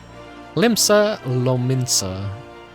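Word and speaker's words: Limsa Lominsa: relay him the tale's happy conclusion lo minsa limsa lo minsa that I usually say it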